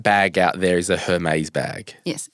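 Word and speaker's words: Hermès: I was like, oh, what a nice like Hermes shop. And she was so nice. She was like, I think it's pronounced Hermes.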